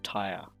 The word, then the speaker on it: Tyre: or purple and that was the city of Tyre it sounds like you know oh my god